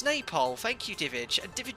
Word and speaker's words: Nepal: the sound guys let me know nepal yeah pronounce napole thank you david and david is from nepal